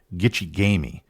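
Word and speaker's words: gichi-gami: says the big lake they call Gumi this is actually a slight mispronunciation of the ajibu word gig gamei which translates to the great sea if you lived in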